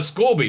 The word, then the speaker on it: Scorby: the show in 1976 he plays uh scorby not scoby i'm saying it wrong scorpio a ruthless uh